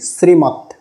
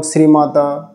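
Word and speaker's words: শ্রীমদ্: তো এটার উচ্চারণ জগত আমি যদি একটা শব্দ বলি শ্রীমত শ্রীমত এখানে শ্রীমত দেখবেন দ এর নিচে হসন্ত চিহ্ন রয়েছে তো এ কারণে দ এর সাথে কোন স্বরবর্ণ উচ্চারণ করা যাবে না যেরকম শ্রীমাদা শ্রীমাদা দ অ উচ্চারণ করা যাবে না কারণ এটা হসন্ত অর্থাৎ এর সাথে কোন স্বরবর্ণ নেই তো এটার এভাবে উচ্চারণ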